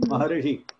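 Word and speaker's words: महर्षि: But I told you, in your side, you will pronounce it as Maharishi. Rishi you will pronounce. Ri. Because you will not pronounce R. R. Very difficult for the powerful climatical condition. Because in the area will be either hot or cold. So your mouth will not be properly setting for pronouncing R sound. So you will pronounce Ri. With the support of E, you will pronounce the sound R.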